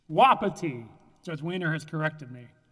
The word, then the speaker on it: Wapiti: See if I can pronounce this correctly. Wapiti Energy. Wapiti. Wapiti.